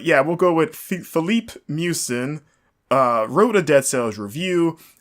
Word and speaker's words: Miucin: name pronounced correctly but I'm gonna go with mucin mucin mi u CIN I think is it's like mucinex like them but without the X so I guess now